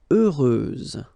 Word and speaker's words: heureuse: Heureuse, final S, not pronounced.